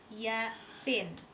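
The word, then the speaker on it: يس: Contoh yang keempat yaitu pada kata yasin. Ya-nya kita baca 2 harokat dan sin, ya, nun mati. Sin itu kita baca 6 harokat. Yasin. Sekali lagi 2 harokatnya huruf ya.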